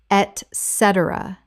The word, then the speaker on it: etc.: correct pronunciation etc. Four syllables with the stress on the second. It begins with et, not ec.